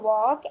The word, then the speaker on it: walk: Like in walk, we are pronouncing W-A-K, walk only, but L we are not pronouncing, so L is silent word.